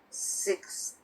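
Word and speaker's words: sixty: 60, the stress is on the first syllable. But with 16, the stress is on the second syllable.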